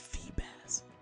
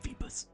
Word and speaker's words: Feebas: And yes, the name is pronounced Feebas, not Feebus.